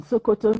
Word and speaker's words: Sokoto: In fact, there was this slang that what is there in Sokoto is there in Shokoto.